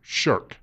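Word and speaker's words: shirk: He's talking about something in his faith which is called sherk. Not like sherking your duties, but it is spelled the same.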